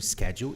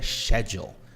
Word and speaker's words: schedule: Um exemplo clássico é a palavra schedule, que é dita no inglês estadunidense, né? Inglês americano schedule e no inglês britânico é schedule.